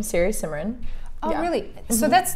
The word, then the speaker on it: Siri Simran: That's my first name, Siri Simran.